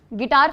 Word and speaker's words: Guitor: Next गिटार festival बोलती हूं मैं इसको, क्योंकि इसकी स्पेलिंग ही है GUITOR, गिटार गिटार जैसे मर्जी याद रखो।